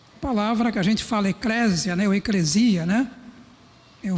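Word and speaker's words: ἐκκλησία: Eu vi, fui lá no Google, pá, deixa eu ver o como é que essa palavra é pronunciada no grego, né? Pelo menos o grego de agora. É eclícia, né?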